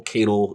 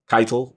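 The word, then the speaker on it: Caiatl: was excited because I didn't see the whole Kato. That's the pronunciation of her name. Keitel.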